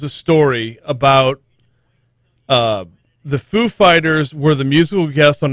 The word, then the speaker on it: Foo Fighters: the show and says is there any special way y'all pronounce this name the name of the band is it foo fighters and dave grohl knowing how christopher walker speaks says no you've got to put the emphasis on fight and fighters that's it